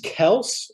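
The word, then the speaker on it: Kelce: yeah yeah d-hop yeah travis kels is how you pronounce it travis kels um travis kelsey great player but he's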